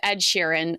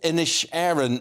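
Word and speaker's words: Inisherin: I heard you were gonna ask me to pronounce it and yes I did think it was the Banshee of Ed Sheeran um not insurance so uh and you can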